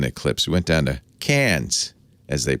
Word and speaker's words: Cairns: We went down to Cairns, as they pronounce it, got on a cruise ship with the Astronomy magazine.